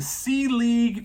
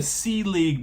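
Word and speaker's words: Selig: Brand number 1 is the C League Furniture Company, or the C League brand. Now this is spelt for all my, English people out there, and just for anyone.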